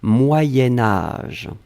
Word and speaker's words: moyen âge: alors moyens moyens4 sion quand on va le blier avec âge on va faire ce petit modification de prononciation on va dire moyenne moyen-âge d'un c'est pour ça que vous avez peut-être entendu moyenne mais en fait on écrit moyen moyen âge va être prononcée moyen-âge d'accord allez ce troisième chose